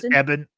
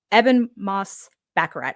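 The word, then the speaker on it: Ebon Moss-Bachrach: do you say his name the thing it's eban eban m backarat eban Moss backarat I remember watching him long time ago Mona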